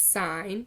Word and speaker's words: sine: I know it looks like sin it's not pronounced in its sine so sine cosine and tangent okay now sine